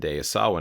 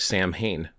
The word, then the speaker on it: Samhain: Many of you who have been practicing for quite some time understand that this isn't pronounced the way it's looked. Why? Why does this look different? Why is it not Sam Hayen?